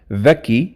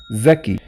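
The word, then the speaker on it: ذكي: However, for example, the word dhaki, which means smart, in slang it is zaki.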